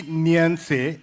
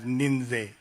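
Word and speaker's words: Ninzey: सब लोग It's actually Nyanse, which is a Tibetan word for, I'm a Tibetan, and it's a Tibetan word for compassion. But when I write it in English, it's mostly like we pronounce it as Ninze, with an N-I-N-Z-E-Y.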